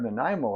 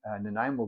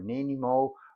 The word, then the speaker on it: Nanaimo: They're making and selling Nanaimo bars, but they're pronouncing it Nanaimo or Nanimo or Nanaimo, and the mayor quite upset and